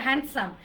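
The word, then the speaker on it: handsome: একটা হ্যান্ডসাম। Just D লেটারটাকে silent করে দেন। ডি লেটারকে silent করলে কি হয়?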